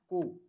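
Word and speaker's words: cu: Q is pronounced as Ku. The pronunciation of Q is Ku.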